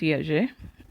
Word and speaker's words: Hergé: It's pronounced Hergé. French, actually Belgian ആണ് ആൾ. അപ്പോൾ ഞാനത് വായിക്കുവാണ്, നിങ്ങൾ കൂടെ വായിച്ചോളുക. Hergé was born on May 22, 1907 to Alexis